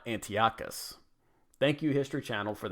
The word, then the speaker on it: Antiochus: Apparently, it is Antiochus, not Antiochus.